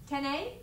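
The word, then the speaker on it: 丁寧: 10y a courteous politeness Tenay like the word Nene thank you so teeny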